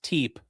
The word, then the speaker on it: Tepe: It's tep. Oh, it's t. Why is there an extra e? And the e is silent.